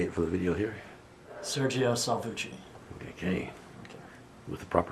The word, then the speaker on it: Sergio Salvucci: you can say it for the video here sergio salvucci okay okay with the proper pronunciation good i'm hmm all right so let's